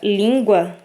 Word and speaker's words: língua: A sílaba tônica da palavra língua é lim. Inclusive, ela vem acentuada, tá? Temos duas sílabas, a sílaba tônica é a penúltima, uma paroxítona.